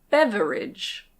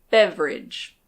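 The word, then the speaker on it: beverage: This word can be pronounced "bev-e-rage". Bev-e-rage. But usually we say "bev-rage".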